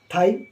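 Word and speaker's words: thigh: जी एच साई तो यहां पर जी H silent T एच आई जी एच थाई टी एच ओ यू जी H throw T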